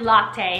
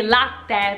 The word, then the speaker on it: latte: Well, my friends, if you say latte, first of all, it's not pronounced latte. It should be latte because there's the two T's.